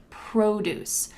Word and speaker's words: produce: pronunciation of that word produce the emphasis is at the beginning produce produce there's another